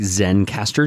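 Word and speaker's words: Zencastr: Internet for you like Zen Caster Zen c a s t notice we're allergic to the e in that syllable again there's also ringer r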